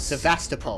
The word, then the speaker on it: Sevastopol: The unit was taken to Sevastopol station. It's Sevastopol.